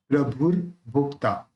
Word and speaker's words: प्रभुर्भोक्ता: इसके ऊपर जो रेफ है उसको रख भू के साथ बोलना है, प्रभुर्भोक्ता।